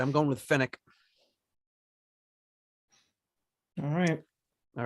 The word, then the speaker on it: Fenwick: Jasor says the Fenwick, the department store company is pronounced Fenwick. So we'll just say Fenwick.